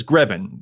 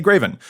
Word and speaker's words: Greven: Everyone says Greven, rhymes with 7, but apparently I say Greven, which I think is